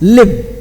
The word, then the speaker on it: live: Like I told you yesterday, if you say the word live in, the English V sound, your teeth should be on your lip as live.